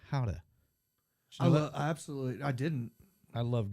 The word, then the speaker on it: Gouda: It's pronounced Gouda cheese. It's not Gouda, it's Gouda.